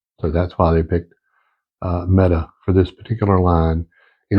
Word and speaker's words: METE: I'm not real sure how to pronounce it. That's what I got out of it was MET-A. So I don't know if that's a long A or a short A, but I'm going to say METE because it's easier for me to say.